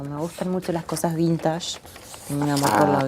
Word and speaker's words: vintage: Me preguntaba, mirá qué jodida que soy, me preguntaba por la palabra, me sonó siempre a francesa, vintage. Vintage, debe Y en ser. realidad es inglesa, de raíz inglesa, y se pronuncia vintage.